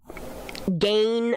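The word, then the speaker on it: Gein: writings of like uh gain Bundy uh Gan is how people pronounce his name Ted Bundy um just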